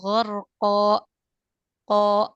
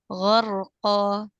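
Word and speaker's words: غَرْقًا: Tadi kesalahan di mad iwad itu biasanya ada yang membaca seperti ditambahkan hamzah di akhirnya. Jadi bacanya hakima atau ghorqo ko seperti ada penekanan. Nah, itu yang kurang tepat. Harusnya dibacanya natural saja ya tanpa ditahan.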